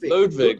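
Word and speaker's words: Lodewijk: oh God Ludwig right it almost sounds like Ludwig but it's spelled differently lud lud ludvic yeah I thought it spelled out I'm like how do you pronounce that yeah I think it's like the drums not as the drums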